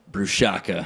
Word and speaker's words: Brushaka: Brushaka.